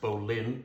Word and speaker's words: bowline: so we're gonna demonstrate the bowline or it's normally pronounced Bolin bowline knot which is